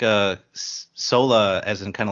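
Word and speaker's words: Soara: indeed and can you believe her name is pronounced Sola cuz sure not spelled that way is it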